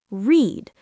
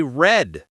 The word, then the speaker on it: read: In the present, we say read like I read books. It is spelled R E A D. But in the past tense, we say red like the color red.